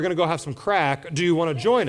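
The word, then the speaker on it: craic: for having fun and it's pronounced C R A I C and it's pronounced crack. So, in Ireland, I say, "Hey, after church, Pastor Swan and I, we're going to go have some crack.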